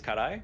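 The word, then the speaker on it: 辛い: I'm pretty sure this one will be wrong, but I think it's karai, which is spicy. That's actually the perfect pronunciation of it.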